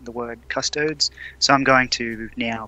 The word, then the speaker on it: Custodes: Yeah, someone has an issue with me saying the word custodes, so I'm going to now pronounce it as cunt-toads. Well, it's actually custode, because it's Latin.